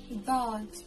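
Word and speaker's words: ض: This one is like a strong version of the Dal, kind of like the D in the word daughter.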